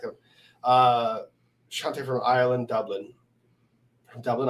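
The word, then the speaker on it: Sláinte: Sending Slante. Oh, no, that's not how they pronounce it in Ireland.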